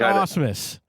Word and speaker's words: Asmus: I said Asmus. Yeah, that's right. That's right. Like the famous Houston Astros catcher, Brad Asmus.